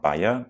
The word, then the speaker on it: Bayer: is now owned by the german pharmaceutical company bear or bayer depending on how you want to pronounce it the makers of aspirin so glyphosate